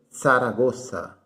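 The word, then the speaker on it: Zaragoza: é tão certa já que não existe sonido do z em espanhol então se lê saragoça sara gosta em saragoça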